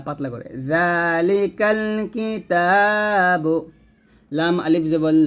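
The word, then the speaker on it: ذ: লাম জাল্লি জালি, এই জালটা উচ্চারণ করার সময় একটু সতর্ক থাকবেন, সেটা হচ্ছে আপনার জিহ্বাটা যেন নিচে যাতে না লাগে, জিহ্বাটা অবশ্যই সবসময় উপরে দাঁতের আগে লাগিয়ে জাল উচ্চারণ করবেন।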